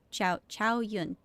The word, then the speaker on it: Xianyun: Xianyun. Okay. Thank you. That's the pronunciation.